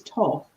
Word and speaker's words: Thoth: Thoth. I never know how to Yeah, pronounce it. I think it's Toth, but it's written with an H.